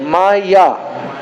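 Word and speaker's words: माया: of the Sanskrit word Maya Ma and yah two syllables do you know what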